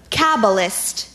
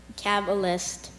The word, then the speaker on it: Kabbalist: bi c e ll good job thank you Kabbalist Kabbalist Kabbalist Kabbalist can you say it again